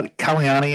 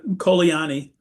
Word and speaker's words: Kolani: Cal Council how Kanani is that how it's pronounced? How do you pronounce your last name? Oh, I'm sorry. It's uh Kolani.